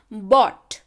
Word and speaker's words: bought: बॉट है ना, यहाँ पे आर का उच्चारण नहीं है. अगला शब्द देखिए, ब्रॉट. यहाँ पे आर का उच्चारण है.